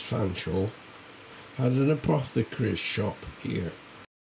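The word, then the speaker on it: Featherstonhaugh: Mr featherston Hall pronounced Fanshawe had an apothecary shop here I got me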